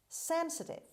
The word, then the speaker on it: sensitive: any modern utensils utensil sensitive sensitive sensitive the stress is at the beginning receiving impressions readily uh